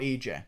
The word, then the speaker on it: Ige: like to say Ania I'm gonna keep saying IG even though that's not how you pronounce his name because I have to manually think about EJ so I'm gonna say